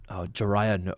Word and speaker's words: Jiraiya: Whoa, how do you spell that? Jiraiya? It's Jirya, Jiraiya, like legendary ninja. Oh, Jiraiya.